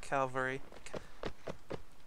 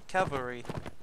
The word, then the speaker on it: cavalry: hill cuz that is a lot of calary caval Cavalry I think I said it right I I keep I don't know why I kept saying l in front of the other one okay uh battle buddies